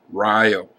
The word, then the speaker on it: Rio: I've wondered how many of you would pronounce it Rio. In Wisconsin, the town is named Rio.